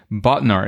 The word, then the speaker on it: Bodnar: So Bodnar, is that how it's pronounced? Yes, it is.